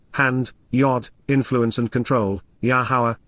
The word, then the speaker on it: Yahowah: yod, influence and control, Yahowah, Yahowah, the proper pronunciation of Yahowah, our Eloah, God as